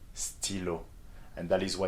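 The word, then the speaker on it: stylo: s what is that stillo yes okay very good that's for pen in english and you see how in this example the igrec is pronounced as e okay stillo and that is why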